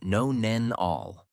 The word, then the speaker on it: nonenal: A compound called 2-nonenal, pronounced no-nen-all.